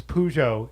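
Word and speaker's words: Peugeot: and all that stuff so it's pujo if you live in America and I'm not pronouncing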